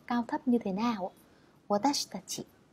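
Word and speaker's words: わたしたち: Watashitachi. Watashitachi tức là cái âm chi ở giữa nó sẽ hơi bị lướt đi một chút.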